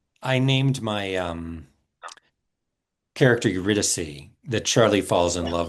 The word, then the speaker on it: Eurydice: Eurydice? Eurydice? Eurydice.